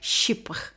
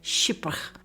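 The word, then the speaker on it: chypre: left some not but let's have a look at this word sh it's spelled CH h y p r e and it's French for Cyprus and there's a history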